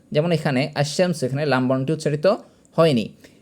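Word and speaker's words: الشمس: যেমন এখানে আশশামস এখানে লাম বর্ণটি উচ্চারিত হয়নি।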